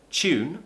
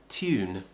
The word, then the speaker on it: tune: this to sound so for example the word tune which is how I prefer to pronounce it lots of old-fashioned people and very posh people will pronounce it as tune tear tune tune so we're doing a tap